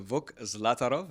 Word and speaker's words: Vuk Zlatarov: my guest on the show today is Mr vuk zlatarov V welcome to the show good to have